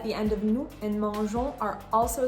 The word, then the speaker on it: mangeons: In the word mangeons, you have 2 nasal sounds. You have the en and the on. You can hear that you're not pronouncing the N consonant. You're not saying mangeons. No, no, no. You're saying mangeons.